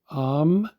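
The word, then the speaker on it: אם: the word for mother we see Olive me pronounced am and meaning mother mother of humans uh in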